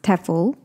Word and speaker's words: TEFL: what's a tefl course te EF l pronounced tefl for short is stands for teaching